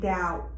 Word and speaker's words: doubt: So we have B is usually silent when it follows M or precedes T in the same syllable.